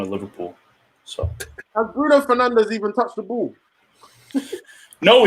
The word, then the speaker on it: Fernandes: Bruno Fernandes. That's how you actually say it in Portuguese.